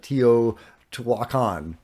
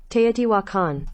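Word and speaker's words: Tiwanaku: viewing uh but they all were seeing uh Tio Twan how do you say that te wakan there you go uh so uh yeah they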